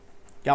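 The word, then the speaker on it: χ: ठीक है, इसको क्या बोलते हैं, काय बोलते हैं। क्या प्रोनाउंसिएट करते हैं इसको, प्रोनाउंसिएशन कैसे करते हैं, काय।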